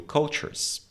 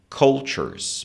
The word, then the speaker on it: cultures: Então, they also learn languages and experience new cultures. E conhecem, experimentam novas culturas. Aqui eu quero dar uma dica de pronúncia, que é um erro muito comum.